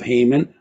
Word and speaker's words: Haman: it talks about blotting out the name of Haman or Haman, I'll say Haman, both pronunciations, 54 times in the Book of Esther, the name of Haman.